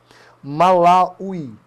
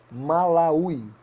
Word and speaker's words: Malawi: Malawi. Malawi. Acho que é assim que se pronuncia.